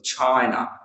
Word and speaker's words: China: And here, China, the first syllable, China.